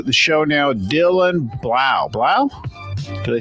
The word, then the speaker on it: Blau: Blau?